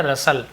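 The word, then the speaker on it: rustle: रही पेड़ों की सरसराहट रसाल रसाल नहीं पढ़ेंगे रसाल टी साइलेंट होता है हल्कू को दारा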